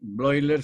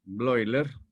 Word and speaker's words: Bleuler: Y Bleuler se escribe Bleuler. EU es un diptongo que suena, se pronuncia hoy en alemán. Bleuler le llamó esquizofrenia, demostrando su cultura clásica, porque esquizos en griego significa división, rasgadura, rotura.